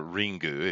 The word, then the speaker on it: Ringu: to Japanese stuff uh ring or ringu if you want to go with a Japanese pronunciation um is way better